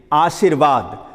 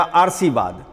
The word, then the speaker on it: आशीर्वाद: याद रहे कि जिस वर्ण पर रेफ पड़ता है उसके पहले र का उच्चारण होता है। तो आप यहाँ पर आ सी र पढ़ते हैं तब वाद पढ़ते हैं, इसीलिए व पर रेफ दिया जाना सही है। यहाँ पर यदि आप पढ़ दीजिएगा तो इसका उच्चारण हो जाएगा आरसीवाद, वह भी आरसीवाद हो जाएगा।